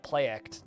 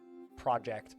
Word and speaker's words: Projekt: It is pronounced like Projekt, not project, but... Allegedly.